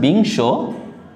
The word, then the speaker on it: বিংশ: যেমন এখানে দেখতে পাচ্ছি বিংশ, উমৈ হসন্ত, তালবস্য রয়েছে, এটা কিন্তু তালবস্যর উচ্চারণটা এইস এর মতোই হচ্ছে, তাহলে সহকারে শো, বিংশ, অর্থাৎ অনুস্বরের পরের অধ্বনিটাও সংবিত হয়।